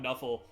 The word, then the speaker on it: Nuffle: by the chaos god knuffle uh who allegedly so the the bit is that they found an nfl playbook and that's just how they pronounced it knuffle uh and so